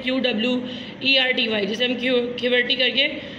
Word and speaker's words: QWERTY: जिस तरह से आपके अल्फ़ाबेट अरेंज हुए होते हैं कीबोर्ड पे, वो इस तरह से होते हैं QWERTY, जिसे हम QWERTY करके प्रोनाउंस करते हैं।